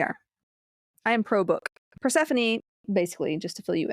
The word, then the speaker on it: Persephone: Don't actually, is how you say that. No, Persephone.